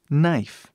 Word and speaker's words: knife: palavras aqui por exemplo Knife que significa faca novamente simplesmente o som a pronúncia começa com n knif não falamos knif